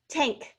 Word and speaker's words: tank: Tank, he fills the gas tank regularly. N sounds like A-N-G-K, ank, tank. We kind of make this funny little G sound, but we're only going to spell it A-N-K.